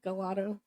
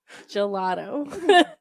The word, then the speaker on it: gelato: Every time LJ pronounces uh gelato, he calls it galato. And I go, gelato.